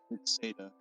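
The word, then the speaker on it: Ceada: It's Seda, because it's supposed to sound like Japanese Sheeta.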